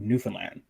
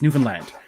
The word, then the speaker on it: Newfoundland: aren't aware, I'm actually from an island called Newfoundland. Yes, that is the proper pronunciation. Not too many people, Newfoundland. No, it's Newfoundland. Newfoundland.